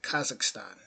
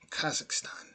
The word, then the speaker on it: Kazakhstan: So that's how you pronounce it. Kazakhstan. Kazakhstan.